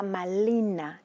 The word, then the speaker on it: Malina: bueno la bautizan Marina y no se podría pronunciar la r Entonces será malina y sin significa honra señora